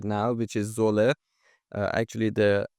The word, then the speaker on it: Zwolle: right now, which is Zwolle. Actually, the correct pronunciation is Zwolle. In Netherlands, they call it like this.